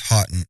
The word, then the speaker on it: Hotton: So the village's name was in English is Hotton. H O T O N. Uh it's not how you pronounce it in French, but So there's a book called The H.